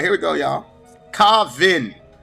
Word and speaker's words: Kvaan: here we go y'all kavvin Kavin is the name of the band that's how you pronounce it there listener ha ha Finn